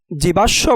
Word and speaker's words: জীবাশ্ম: জীবাশ্ম বানানের শব্দের শেষে তালব্যয়ের সাথে মফলা যুক্ত হওয়ায় তালব্যর উচ্চারণ ২ বার হয়েছে, অর্থাৎ দ্বিত্ব হয়েছে।